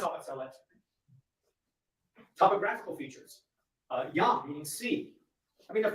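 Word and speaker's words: ים: So they borrowed the word Yam, meaning sea, pronounced in Hebrew Yam or in Phoenician as either Yom or Yum.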